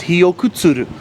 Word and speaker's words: Hiyokutsuru: yeah I was right I got the name wrong it's hiok kuturu I knew I'd get